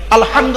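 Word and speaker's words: الحمد: দেখেন আলহামদুলিল্লাহি রাব্বিল আলামিন আলহামদু আলহামদু এই গলার ভেতর থেকে হেটা উচ্চারণ করবেন আলহামদু মানে হচ্ছে সমস্ত প্রশংসা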